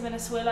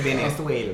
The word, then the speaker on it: Venezuela: You better come through with the roll your R's. Go ahead, you better roll your R's. She said Venezuela.